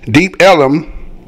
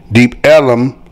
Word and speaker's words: Deep Ellum: The area was originally called Deep Elm, but the pronunciation Deep Ellum by early residents led to its current and historical accepted name.